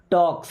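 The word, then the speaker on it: talks: ही टॉक्स strange, he means होता है वह, टॉक्स यहाँ पे एल साइलेंट है, टॉक्स मीन्स बातें करता है।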